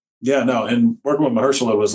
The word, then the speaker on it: Mahershala: you did true detective with uh is it pronounced mahershala i was googling this i was really stressed about it i believe it's mahershala and folks i think uh call him hirsch